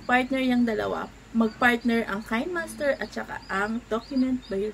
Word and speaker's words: KineMaster: My God, KineMaster pala yan. KineMaster ang pronunciation.